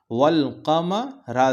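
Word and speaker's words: والقمر: ये हो गया कि हम अलिफ को नहीं पढ़ेंगे, वाव को लाम से मिलाकर पढ़ेंगे। अलिफ हमारा साइलेंट हो जाएगा।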